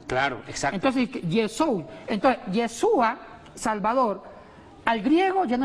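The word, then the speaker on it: ישוע: Cómo se dice yeshua o yeshua Cómo se pronuncia yeshua yeshua HEB Salvador Salvador yeshua cuando se tradujo cuando se tradujo cuando se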